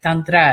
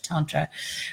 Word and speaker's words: Tantra: So like you'll notice I'm using pronunciation like Tantra as opposed to Tantra, right? Tantra is American. Tantra is using the Sanskrit.